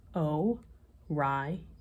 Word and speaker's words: Orion: the hunters name is Orion you say it like this oh why um he can be seen